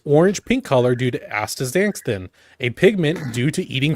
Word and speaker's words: Astaxanthin: Astaxanthin. Bless you. I'm fumbling. Bless you. On principle, I refuse True. to acknowledge that that's how it's pronounced.